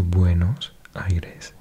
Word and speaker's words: Buenos Aires: So Buenos Aires is the correct pronunciation. It does mean good air or clean air. Literally good airs, but yeah, Buenos Aires.